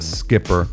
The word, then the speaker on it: Schipper: Lilli Schipper. It's Schipper, pronounced Skipper, but Lilli Schipper of Lokation Real Estate.